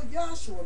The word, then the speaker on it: Yahshua: The name Jesus is derived from a Greek rendering of the Hebrew name Joshua, or in full Yahshua, because there's no J pronunciation in the Hebrew tongue, and the name Yahshua means Yahweh is deliverance.